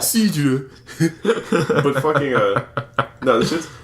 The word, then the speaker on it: cidre: With the accent, my guy, you gotta pronounce that. Cidre.